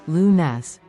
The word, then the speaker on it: lunes: one section two loons Monday first up is loons which means Monday let's say that together loons great job loons is the start of the week for many let's say it again loons remember the pronunciation is luness section three Mart's Tuesday next we have martes